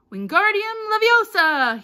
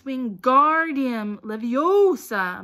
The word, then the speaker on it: Wingardium Leviosa: having much more luck Wingardium Leviosa he shouted waving his long arms like a windmill you're saying it wrong Harry heard Hermione snap its Wingardium Leviosa make the garden nice and long you do it then